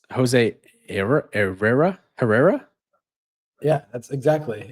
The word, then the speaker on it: Herrera: You remember, the H is silent. So it's Jose Herrera?